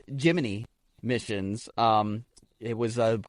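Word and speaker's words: Gemini: Astronauts also received custom wakeup songs from mission control each morning, a tradition dating back to the, it is pronounced, Jiminy missions.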